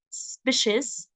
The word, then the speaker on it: species: I believe that they can help protect and preserve endangered species. Okay, so it's pronounced as she, species.